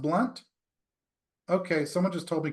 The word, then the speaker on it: Blount: Blount is is pronounced blunt um so sorry about it it's got extra letters in it uh if it's supposed to be pronounced blunt they should really remove the O okay let's continue on